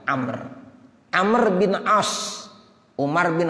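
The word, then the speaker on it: عمرو: nya kalo abis lo ada WOW nya itu bacanya Amer Amer Bin Ash Kumar bin khoththob dua-duanya sahabat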